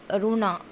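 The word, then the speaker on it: Roland: तो मेरी रोना, स्पेलिंग जो इंग्लिश का होता है उसमें लास्ट में आपका ALD भी है, तो लेकिन यहाँ पे वो साइलेंट चला जाएगा।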